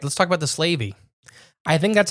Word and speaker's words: Slavey: All right, let's talk about the Slavey. I think that's how it's pronounced. It's Slave, which is slave, right? Yeah. Why? I would say Slavey. That's how I think it's pronounced.